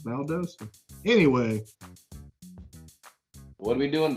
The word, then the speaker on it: Valdosta: is calling valdosta georgia it's valdosta anyway what are we doing valdosta we uh we went road some rides throw